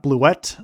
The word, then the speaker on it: Blewett: And ironic name cuz you know blew it but it's pronounced Blewett from what I remember.